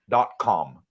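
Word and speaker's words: TukCom: a great electrical store out here it's called tocom spelled tuom uh the ties pronounce it if you're going to get a taxi that would take you there they call it do com but it's Toom written so um they may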